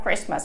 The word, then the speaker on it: Christmas: palabra aquí christmas ojito ojito con la palabra christmas porque la ley de liberty no se pronuncia entonces tres más prismas ahora vamos hola